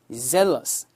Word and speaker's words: zealous: 그 다음에 이거는 Z 발음 써서 zealous 그러면은 정확합니다.